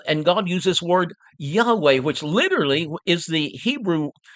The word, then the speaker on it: Yahweh: Uh the LXX, the Septuagint translators, used kurios to translate Yahweh. Or or some would pronounce it Jehovah. The the the correct trans- translation would be Yahweh.